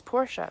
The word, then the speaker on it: Porsche: would see it as Porsche because you pronounce the e at the end this was like mind-blowing